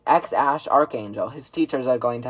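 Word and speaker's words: X Æ A-12: Well, there's two ways that the internet has been saying that you pronounce this. Now, the first way is obviously X. And then I'm pretty sure the middle name is Ash. Pretty sure that's how you pronounce it. And then A12 is apparently Archangel. Don't exactly know what that means. X Ash Archangel.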